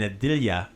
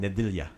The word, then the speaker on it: Nedjelja: Yeah, so every dialect has a little bit of a, how much they're going to emphasize certain syllables, but Nedjelja. Nedjelja. So I'm probably been saying it in a dialectical way, but that's what you get for free.